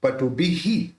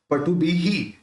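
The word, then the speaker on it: पटुभिः: तो उद्भूत बुद्धि पटुबिहि, वहां पे जो विसर्ग है उसका उच्चारण ही हो जाएगा, पटुबिहि।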